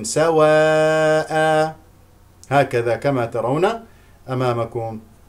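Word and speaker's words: سَوَاءً: بكسر الحاء، ليسوا سواء، الوقوف على سواء بمد العوض بمقدار حركتين، سواء هكذا كما ترون أمامكم.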